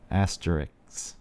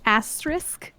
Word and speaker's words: asterisk: to what is that how do you pronounce that word asterisk yeah see I never it's one of those that I can't I can't remember because I knew I pronounced it incorrectly and it's become such a confusing mess in my brain right like halfway through the word you're like where is that s yeah I hated the